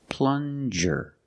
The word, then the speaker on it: plunger: this is a plunger plunger use the regular n and the J sound like juice plan jir this is a